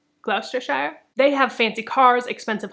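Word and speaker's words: Gloucestershire: and glistar nope glou it's spelled glester Shire but I know that's not how you say it I think it's gluster Shire gluster Shire they have fancy cars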